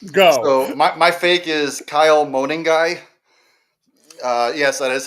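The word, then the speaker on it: Kyle Monangai: So, my my fake is Kyle Moaning Guy. Uh, yes, that is how you pronounce his name.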